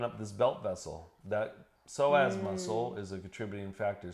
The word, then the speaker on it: psoas: PSOAS. Oh, PSOAS. That's psoas. a It's not SOAS is how you might spell it out.